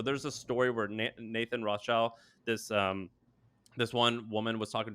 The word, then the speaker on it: Rothschild: Rothschild is?